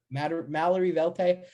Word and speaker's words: Mallory Velte: Mallory Velte.